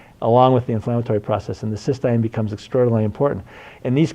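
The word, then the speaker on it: cystine: of them come together, it's cysteine or cysteine, it's T-I-N-E. People pronounce it differently, but cysteine is with the E in it, and that's in the reduced form, and that's the one you use.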